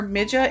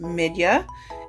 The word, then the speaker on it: Midja: I was calling her Mida in the box opening but I have since learned that it's actually pronounced midia and it is a Russian name so she is 50